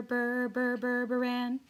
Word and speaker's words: Burburan: dr berpran and you pronounce that berber berberan so there you go